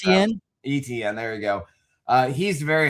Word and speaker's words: Etienne: So Kenneth Walker, Travis, I can never pronounce Etienne. Etienne, there you go.